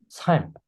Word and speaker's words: 삶: the pronunciation is more like S-A-L-M. Here it says just S-A-M, but then it's more like S-A-L-M. So it's like 삶. The L pronunciation is in the middle.